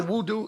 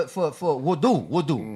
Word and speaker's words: wudu: They once when the honorable Voodoo, isn't that voodoo? No, man, that's an Arabic word for wudu, not voodoo.